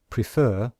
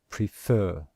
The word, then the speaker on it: prefer: syllable of a word example the word prefer can you hear that we stress the second syllable and in IPA we